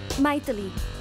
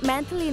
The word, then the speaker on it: मैथिली: आई एम, मैथिली। Abroad में मेरे नाम को अजीब से प्रोनाउंस करते हैं। मैथिली नहीं, मंथली वीकली ऐसा कहते हैं, इसलिए शॉर्ट फॉर्म में बना दिया।